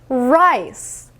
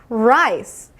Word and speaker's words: rice: 혀 꼬아 보세요를 최대한으로 안으로 말아서 꼬아 주세요 rice 다시 한번 해 볼게요 rice 조금 쉽게 하는 방법은 여러분들 강아지 때 으르렁